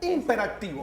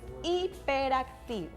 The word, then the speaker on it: hiperactivo: De hecho, a veces ni siquiera pronuncian bien la palabra. Imperactivo. No, mi hijo es imperativo. Error. A ver, vamos a aprender a pronunciarlo. Es hiperactivo.